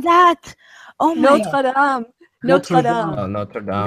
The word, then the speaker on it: Notre Dame: So the comment that I had made was one particularly awful pronunciation that Americans have for anyone who studies and loves the French language is, sorry, the phrase Notre Dame.